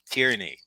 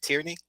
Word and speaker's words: Tierney: as far as I'm concerned is your name tyranny did I pronounce it right tyranny yes sir okay very unique I love it